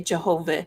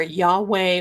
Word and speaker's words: Yahweh: Yahave or some people say Jehovah. It is actually the J's are not pronounced. It is Yahave or Yahweh or Yahave or you can say Jehovah.